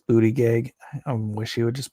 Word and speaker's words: Buttigieg: Mayor Buttigieg, it's Buttigieg, I wish he would just pronounce it correctly, is trying to play himself off as the moderate candidate.